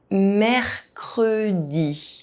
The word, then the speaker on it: mercredi: The three-consonant rule means that E is pronounced. Mercredi.